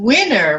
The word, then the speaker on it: Wiener: Wiener. I just spell it funny. It's where? Okay. It's Wiener. Wiener.